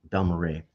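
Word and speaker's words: Balmorhea: for his work as co-founder of The Ensemble B Mara did I pronounce that right B Mara Ray yeah Ray I keep BMA Ray has recently delved into compositional Exploration with his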